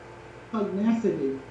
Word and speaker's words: pugnacity: Primitive women also unintentionally created their dependence on the male by their admiration and applause for his, how do you pronounce it? Pugnacity.